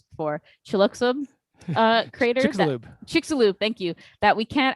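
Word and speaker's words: Chicxulub: is i know you told me how to pronounce this before chilluxo uh crater lube chick's a loop thank you that we can't actually see uh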